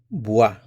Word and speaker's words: boit: Tu bois Il il or on It's pronounced the same, boit, but the spelling is a little different.